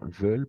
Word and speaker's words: veulent: Méditerranée parce qu'ils veulent n'est-ce pas veulent parce que à la fin on les prononce pas parce qu'ils veulent vivre